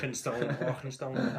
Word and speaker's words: Arkenstone: And they don't pronounce the K in Arkenstone with quite the scoutness that you just did. Arkenstone.